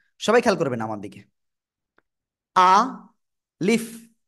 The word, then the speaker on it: ألف: আ leaf, নিচের ঠোঁটের পেট উপরের 2 দাঁতের আগার সঙ্গে লাগাবেন, লাগিয়ে আপনাকে উচ্চারণ করতে হবে। আলিফ, হালকা বাতাস বের হবে।